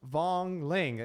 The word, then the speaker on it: Vaughan Ling: So we have Vaughan Ling. I'm saying it right? Yes, matcha latte. Yeah, You're dude. saying it correctly.